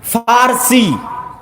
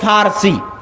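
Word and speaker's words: فرس: আর একদিকে পারস্য, পারস্য মানে ফার্সি, বাংলায় বলে প, কিন্তু ওটাই আরবিতে আছে ফার্সি, ফুরস। কেন আরবিতে পর কোনো উচ্চারণ নাই, আরবিতে পর কোনো উচ্চারণ নাই, সেটা আমরা পারস্য বলতেছি, ওটাই আরবিতে বলে ফুরস, ফার্সি।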